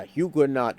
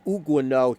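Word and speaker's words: Huguenot: at least have uh huguot should be pronounced uguo hugut churches but there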